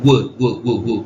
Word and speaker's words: would: 그래서 이제 내가 이 얘기 왜 했냐면 그러니까 W가 자음이라는 거를 좀 이해하면 예를 들어 would를 어느 유럽어를 쓰는 사람은 예를 들어 러시아 사람은 would처럼 발음을 할 수도 있어요. would 이렇게. 그러니까 약간 자음처럼 발음을 해야 되고 발음이 이제 입술이 거의 동그랗게 그 말린 상태로 입술을 자세하게 보여주기 좀 그러니까 모양을 그려보자면 이런 상태로 이렇게 하고 would 이렇게 발음을 해야 돼요.